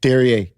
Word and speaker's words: Derriere: Real quick, I had to ask what the correct way to say it. Okay. And I asked someone and I was like, is it really Derriere? And they were like, yeah, it is.